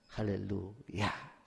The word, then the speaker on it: 할렐루야: 할렐루야. 따라서 보세요. 할렐루야. 화날 때 쓰지 마시고 하나님을 찬양할 때도 할렐루야 하는 게 이 원어적으로 발음 표현이에요.